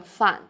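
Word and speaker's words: 饭: It suggests that its pronunciation is close to the pronunciation of the character fan, meaning opposite.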